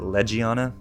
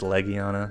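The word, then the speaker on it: Legiana: I saw it name I used to pronounce it legana but it's Leana I don't know if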